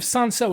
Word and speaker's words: Cinsault: Just like an L. You don't even say it's not like you're saying maybe it would be easier to pronounce without that little L.